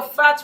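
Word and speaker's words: phat: No, you're fat with a P.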